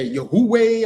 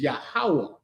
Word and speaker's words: Yahawah: I hear Yahweh or Yahweh and all type of abominable pronunciations. Yeah. Yeah. Who the hell is Yahwh? The Most High's name is Yahawah.